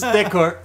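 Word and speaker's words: d'accord: i'm just going with this it's okay it's decor there's this weird like fuzzy guitar or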